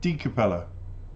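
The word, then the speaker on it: DCappella: nhóm lạnh lùng và tôi hy vọng mình nói đúng capella nhưng nó được phát âm là Dcapella.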